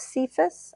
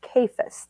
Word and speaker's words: Cephas: would be actually pronounced kephus as if it were spelled k-a-y-f-u-s but I'm old and kind of stuck in my way so it's going to just keep coming out as cephas for me but let